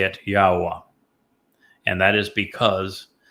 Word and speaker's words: Yahowah: And we say it Yahowah. And that is because the Yod and the He are understood from the way Yahweh introduced his name.